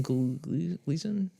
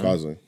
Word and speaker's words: Gosling: Ryan Gleason?